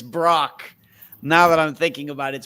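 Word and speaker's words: Brach's: It's because, no offense, Dave, but you mispronounced the last name. It's Brock. Brock. I spelled it. I I know, but it's Brock, now that I'm thinking about it, it's Brock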